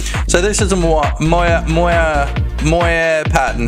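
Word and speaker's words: moiré: So, this is a Moya Moya Moyer pattern. How do you even say that? Mua. It's a moah. Apparently, that's how you say it.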